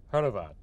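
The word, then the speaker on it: Hrvat: oh yeah yeah sure Horvat in the Croatian language is herat HR vat and our name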